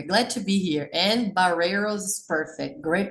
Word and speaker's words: Barreiros: having me here glad to be here and baros is perfect great pronunciation so it was right I thought I